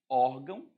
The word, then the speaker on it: órgão: você acrescenta um s órgão órgãos órfão órfão porque o ão é átomo a sílaba tônica tá no or quando o ão é